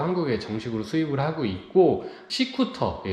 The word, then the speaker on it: Seacooter: 정식으로 수입을 하고 있고 c쿠터 스쿠터 아니고요 C 쿠터 발음 주의하셔야 돼요 c쿠터 제품을 좀 소개를